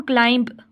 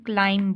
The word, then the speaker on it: climb: अब हम क्लाइंब नहीं बोलते, क्लाइम बोलते हैं, तो इसमें बी जो है वो साइलेंट है, क्लाइम।